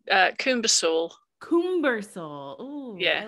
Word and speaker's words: CoomberSewell: Jane CoomberSewell. Did I pronounce that correctly? Close. It's CoomberSewell.